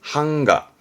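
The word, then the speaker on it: 版画: 판자입니다 출판의 판 그래서 대표적으로 봅시다 판화 판화 발음은 한가 한가 목판이죠 목근항 목그향 목판의 목그향 같은 글자인데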